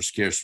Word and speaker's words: SCARCE: um the acronym uh pronounced scarce like the word English doesn't denote Rarity